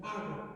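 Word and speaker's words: ἄγω: Aquí mismo va a hacer para proyectar, miren, ago, acento en la A.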